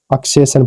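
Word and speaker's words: accession: हो जाएगा ठीक है ऐसे ही अगला है A double C E double S आई ओ N double S आई ओ एन से पहले इ है एक इ एक वोवेल है तो इसको क्या पढ़ेंगे अक्सेशन पढ़ेंगे इसका प्रोनंसिएशन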